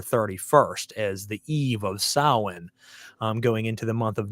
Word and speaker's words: Samhain: But, if you're listening out there, folks, tonight's episode's on Samhain. Now, Samhain, some people say Samhain because they don't know how it's pronounced.